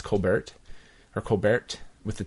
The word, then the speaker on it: Colbert: see I'm stuck saying Colbert because that's not actually how you pronounce his name it's Kolbert her Kolbert with the T oh you really actually pronounce the T yeah you do he